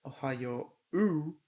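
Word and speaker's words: おはよう: 何年生 Ohayo used to pronounce Ohayo U. Well, the pronunciation has changed over time, but it's still written the same as Ohayo U.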